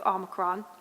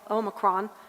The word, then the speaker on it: omicron: explain it there's actually three ways to to pronounce it and it's very interesting one is the the american way which is omicron one is the um international omicron and then there's a third uh the british